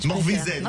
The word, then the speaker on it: Morvezen: Nous sommes avec Morvezin. On dit bien Morvezin, hein? Morvezen, on prononce à la bretonne, alors.